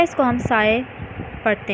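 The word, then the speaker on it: ψ: symbol is a wave function and it is pronounced as psi. ठीक है, इसको हम psi पढ़ते हैं.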